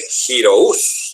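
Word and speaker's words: Giroux: Henry Giraud se escribe Giraud, termina en UX, es un apellido francés, aunque él es americano, es Henry Giraud.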